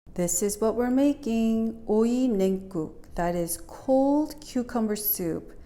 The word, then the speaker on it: 오이냉국: Now before we begin, I want to phonetically teach you how to say 오이냉국. 오이 means cucumbers. 냉 means cold, guk means soup. So it's 오이냉국.